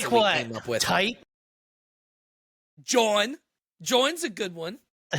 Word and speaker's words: jawn: John, by the way, is spelled Jawn, if for anyone wants.